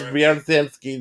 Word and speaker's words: Viertansky: Boris Viertansky. This sounds like it's spelled.